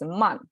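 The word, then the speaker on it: 曼: man all right um but in chinese they're pronounced as mon it's a little bit different right so men english mon chinese okay so we have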